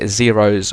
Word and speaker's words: Xaero: there and we're going to actually download the xeros a world map as well so in your